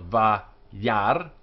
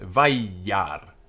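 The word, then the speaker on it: וַיַּרְא: It's not va yar, as a modern Israeli would say, but vai yar, with a y is going to both syllables.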